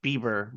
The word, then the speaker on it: Biber: Oh, it's not beaver. It's Beaver. BIBER.